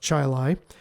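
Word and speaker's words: Chili: say chil even though to you that says Chile but where I live that's pronounced the town is pronounced Chilai Chilai Public Library di is imploring me to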